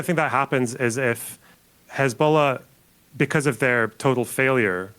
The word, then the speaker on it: Hezbollah: Is there any world where Hezbollah, also, is it Hezbollah or Hezbollah? Hezbollah. Hezbollah. Is there any world where there's a few different ways you can pronounce it.